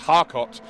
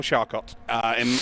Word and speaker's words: Charcot: from Hayfen saying that Charcot's name's pronounced Harcot. Oh, okay. Yeah, well, he needs to send a very polite email to his parents and explain to them why his name is now Charcot.